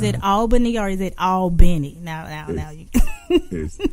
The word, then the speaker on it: Albany: And, is it Albany or is it Albany?